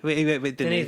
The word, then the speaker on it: Denis: Denis Villeneuve. You spell it like Dennis, but it's Denis.